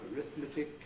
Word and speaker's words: arithmetic: So they are Arabic, arithmetic, Catholic, choleric, not a common word, heretic, lunatic, politics, and rhetoric. You can remember those words, they break the rule.